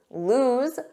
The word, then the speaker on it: lose: And lose, z, lose.